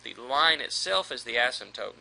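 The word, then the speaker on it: asymptote: Another characteristic a graph could have is what's called an asmtote. You don't really pronounce the P.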